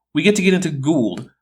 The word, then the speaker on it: Gould: Oh great, we get to get into Gould, whose name isn't pronounced Gold, but again, English might not be his first language, so he gets a pass.